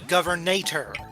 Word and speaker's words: Governator: Arnold was the governator.